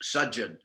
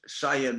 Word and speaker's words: Sajan: Sayan Maharaj, that also is Sajan. Sayan. That's the same name. Oh. I mean, in Spanish, it's pronounced Sayan Maharaj. But if Sayan Maharaj would mean sleeping, lying down Maharaj, but he's actually Sajan Maharaj.